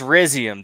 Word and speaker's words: Rhizium: it's Rizium, dude. It's like Rhizosphere.